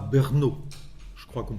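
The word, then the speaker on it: Brno: avant lui boumil Rabal il était né à bernaau je crois qu'on prononce comme ça B RNO près de 94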